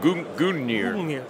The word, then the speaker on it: Gungnir: going to say guger at all but but goir there it is what a great tfb TV